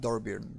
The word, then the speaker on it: Dornbirn: Dornbirn And or whatever it's called. Dornbirn, Yeah, yeah. where in Poland we pronounce it Dorbirn, but I don't know how it's called originally.